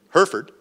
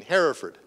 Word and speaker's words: Hereford: So, you know, there are two pronunciations, right? There's the Western pronunciation, Hereford, right? And there's the English pronunciation, Hereford. My dad was a rancher, so he didn't want to have Hereford's Herefords. So he chose the English pronunciation, Hereford, so he could distinguish him from the cows.